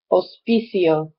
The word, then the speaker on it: hospicio: out or for hospice hospicio sounds are strong and you're not pronouncing the h one last area that